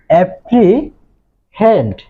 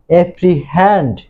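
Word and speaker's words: apprehend: তো দেখো, এখানে আমি উচ্চারণটা করেছিলাম অ্যাপ্রিহেন্ড, কিন্তু এর সঠিক উচ্চারণ হচ্ছে অ্যাপ্রিহ্যান্ড।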